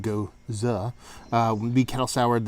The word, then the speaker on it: Gose: with a Persian line goes up pronounced go uh uh we be cattle